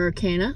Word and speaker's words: arcana: The major arcana, which also rhymes with Hecticana.